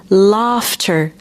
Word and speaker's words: laughter: En fait, ça s'écrit L a U ghter. Par contre, ça se prononce F.